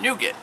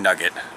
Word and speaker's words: nougat: major update to the operating system we're on nougat Android seven by now I know I know I just I momentarily thought your mispronouncing nugget there's there's a and here's a literally strawberry